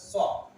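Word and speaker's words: chalk: লেখা হচ্ছে চক এখানে লেখা হয়েছে এই ওয়ার্ডটা চক এখানেও দেখেন আমার লেখা হয়েছে এল টা সাইলেন্ট না হবে চক সি এইচ এ কে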